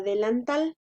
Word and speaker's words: delantal: La sílaba tónica es tal. Ahí es donde hacemos la mayor fuerza de voz. Porque supongamos que la mayor fuerza de voz la hiciéramos en la sílaba lan. Entonces diríamos delantal. Y no es así, ¿verdad? Es delantal.